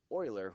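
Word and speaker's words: Euler: Oiler discovered it and it's it's Oiler spelled with an E uh but um what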